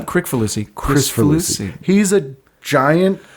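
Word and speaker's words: Kricfalusi: Chris Falusi, that's how you pronounce Yeah, not it? Crick Falusi.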